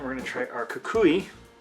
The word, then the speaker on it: cocuy: going to try our Kukui I always want to pronounce it kakuye even though that's not how it's pronounced I'm gonna demonstrate once